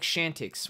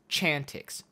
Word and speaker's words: Chantix: called shantix chantix i i say it like shantix with an sh but it's chantix chantix i live in northport